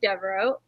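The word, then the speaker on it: Deveraux: picked the book by jude devereaux that's how you say her name right mm-hmm i know that because uh golden one of the golden girls is blanche devereaux and that's how i know how to pronounce her name my mom always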